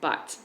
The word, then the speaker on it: Butt: put it out there my last name as some of you know is butt and it's spelled like your butt like b u tt so a lot of